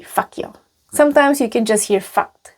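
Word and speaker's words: fakt jo: And people would usually not pronounce the T. So it would be fakyo.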